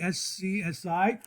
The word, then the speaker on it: SCSI: The other type is the SCSI. That's how it's pronounced, the SCSI, which stands for Small Computer System Interface.